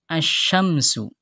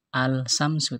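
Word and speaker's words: الشمس: hukum alif lam syamsiyah contoh yang terakhir asyamsu ya Ada alif lam juga tapi tidak dibaca alsyamsu tapi asyamsu nah Perhatikan ya Ee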